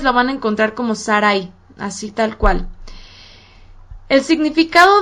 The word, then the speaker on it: Sarai: Porque si en vez de pronunciar la letra Sin de Sara o de Sarai, pronunciáramos la letra Shin, o sea, Sharai o Sharai, estaríamos diciendo el nombre de un israelita que aparece en Esdras, en el capítulo 10,